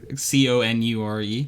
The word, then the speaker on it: conure: it in a connor c-o-n-u-r-e probably not pronounced like the name connor but uh conure whatever bird uh i